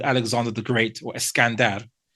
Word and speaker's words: Sikandar: Alexander the Great or Iskandar. If I'm pronouncing it, it might be a Persian pronunciation. Sorry, or Sikandar. I think maybe Yeah, Sikandar. Yeah, that's it. That's it.